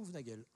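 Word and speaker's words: Houvenagel: Ouvenagel, Ouvenagel ou Ouvenagel ? Ouvenagel. Parce que je suis tellement à cheval sur la prononciation de mon nom que j'y vais mollo.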